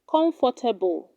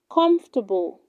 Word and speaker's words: comfortable: on the key three do not say comfortable it is pronounced comfortable comfortable are you comfortable in